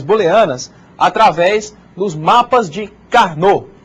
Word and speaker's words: Karnaugh: através dos mapas de carnô. Esse nome esquisito aí a gente pronuncia Carnô, né?